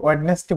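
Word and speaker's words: Wednesday: যেমন ওয়েডনেসডে, আমরা কিন্তু ওয়েডনেসডে বলবো না, আমরা অনেকেই ওয়েডনেসডে বলে থাকি, বাট এটা হচ্ছে ভুল উচ্চারণ, এটা হবে ওয়েডনেসডে।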